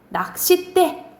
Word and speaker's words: 낚싯대: 근데 발음이 어떻게 나니? 낚싯대 뒤에 된 소리가 나죠.